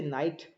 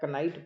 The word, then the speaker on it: knight: जैसे नाइट, KNIGHT, या knife, के साइलेंट है दोनों में. तो छोटा बच्चा लगभग उसको क्या करता है, नाइफ को कनाइफ पढ़ता है, कनाइट पढ़ता है, तो उसको जब तक